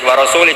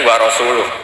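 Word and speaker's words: وَرَسُولُهُ: Allah itu terbebas, gak urusan dengan orang musyrik, wa rasulih juga gak ngurus Rasulnya. Kalau sama Rasul saja tidak ngurus, apalagi sama kita. Terus sama Sayyidina Ali dibenarkan, yang benar bacanya itu wa rasuluh, Allah bari minal musyrikin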